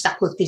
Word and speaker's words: Xacuti: मुझे अच्छा लगता है शाकुती चिकन। अब इसका मतलब भी बता दीजिए। ये एक गोवन डिश है, chicken, it's spelled XACUTI, but it's pronounced शाकुती chicken.